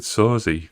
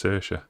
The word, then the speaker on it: Saoirse: I feel like it said Sorzy. That's not how you say that name, it's Saoirse.